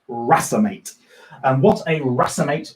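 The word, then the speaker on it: racemate: also called a rasa mate it looks like race mate it should be erased mate it's pronounced rasa mate and what a rasa mate or a racemic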